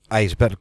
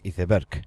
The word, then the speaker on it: iceberg: Aunque que sepáis que en España en castellano se dice iberg ya sé que la palabra es iceberg pero aquí se dice así no no sé por